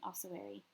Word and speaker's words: ossuary: So in the darkness or through your lens, you see a man-sized shape burying itself in the ossuary.